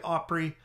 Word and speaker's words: Opry: uh pry bar it's called the Opry um Opry I don't pronounce it Oprah Opry it's about a four